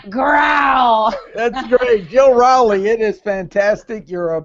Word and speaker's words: Rowley: be joining as well I am Jill R rowy like grow that's great Jill rowy it is fantastic you're a Powerhouse in the